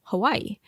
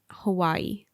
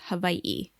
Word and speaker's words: Hawaiʻi: previous episodes you've heard me say Hawaii as Hawaii but I wanted to address this I think a lot of locals still say Hawaii but the correct pronunciation is Hawaii and there's a little it looks like an